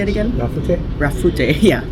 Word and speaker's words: Rafute: Rafute, yeah.